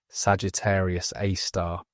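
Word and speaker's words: Sagittarius A*: While the compact central source received the designation Sagittarius AI pronounced Sagittarius A star.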